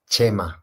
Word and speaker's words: Chema: So for the next time that you know, guys, it's pronounced Chema, because I'm from Spain. Yeah, I'm from Spain, and the CH is pronounced Che, no? Like Che Guevara, no? It's like the same, yeah. Chema.